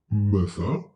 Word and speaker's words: mother: So TH in month is pronounced th, and TH in mother is pronounced v. It is voiced.